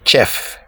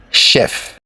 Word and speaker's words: chef: Do you say chef? It's wrong to say chef. It is chef. It's also a French word.